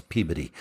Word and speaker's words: Peabody: like I'm going to Peabody and they're like no that's puberty yeah it always sounds like puberty to me puberty awardwinning everything sounds